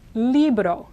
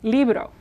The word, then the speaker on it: libro: Now here's another example of an R after a consonant. So, li, now the second syllable is bado, bado, bado. Again, you have to say it quickly for it to work. It's not libdo, that's the English D of dog.